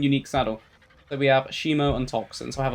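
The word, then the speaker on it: Haemo: And this one is called Shimo. Shimo spelled like H-A-E-M-O, which is relating to blood, you know, hemo, hemoglobin, everything.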